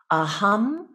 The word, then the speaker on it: Aham: familiar with and it the Mantra itself is a hum Prema and if we were to spell it using our Roman letters we would spell